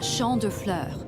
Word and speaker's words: Champs de Fleurs: Champs de fleurs? How do you say that? It's Champ de Fleurs.